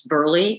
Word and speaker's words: Burleigh: pronunciation of my name it's burley like a football player not berlin good good i love